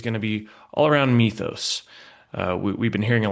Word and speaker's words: Mythos: I mean, let's start with the very very basic Mythos, uh which is by the way a Greek-derived word, which is why uh it's pronounced Mythos, uh I was told recently.